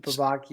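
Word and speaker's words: Bevacqua: Pete Bvakia. Is that how you say his name? Yeah. Pete Baky.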